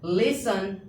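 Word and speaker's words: listen: लिसन Bansal हरसेल।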